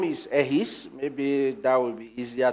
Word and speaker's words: Ehis: Okay, my name is Ehis. Maybe that will be easier to pronounce.